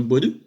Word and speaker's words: Boadu: En plus, je prononce bien, regardez, ça a l'air compliqué, mais Myron Boadou.